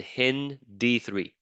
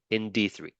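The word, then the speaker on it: HindIII: And we are going to treat it with two restriction enzymes, EcoR1 and HIN-D3. That's how you pronounce it, okay? HIN, and then the D, and then that's Roman numeral 3, HIN-D3.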